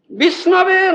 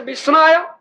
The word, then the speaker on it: विष्णवे: The Pandit says Vishnave Namah. You understand? Murkha says Vishnaya, Pandit says Vishnave. You understand? Who was? Vishnaya, Vishnave. The correct word is Vishnave.